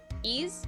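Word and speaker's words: Ys: into it ye used you pronounce it ye ease ease okay ease um so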